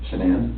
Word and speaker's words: Shanann: And I don't want to pronounce her name wrong, Shanann. Shanann?